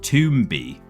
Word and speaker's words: Tomba: They all called him Toomby anyway, so I don't know. But I wouldn't say it rhymes with Rumba, I'm afraid. I would say it rhymes with Romba, which is not a word.